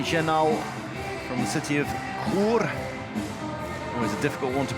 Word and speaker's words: Chur: Number 9, Jeremy Chenal from the city of Chur. Always a difficult one to pronounce if you're not Swiss. The CHs in Switzerland are always difficult ones to pronounce in Swiss German.